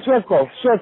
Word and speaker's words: Suecof: Now, you're working with Jason Suecof, is the producer on this album, and I think Jason Suecof. Yeah. Am I pronouncing his name correct? Yes. Yeah, you got it, Suecof.